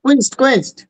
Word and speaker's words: quenched: কোয়েন্সড তো হবে প্রোনাউন্সিয়েশনটা QUENCHD। হ্যাঁ হ্যাঁ, কুইন্সড।